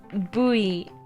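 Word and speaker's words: ブイ: You would pronounce it Bui sensei. Bui. Kind of unreasonable.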